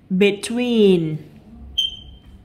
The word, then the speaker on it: between: Excuse, between, cathedral. Lặp lại nào. Excuse thì E này được phát âm là Y ngắn. Between thì E này được phát âm là Y ngắn.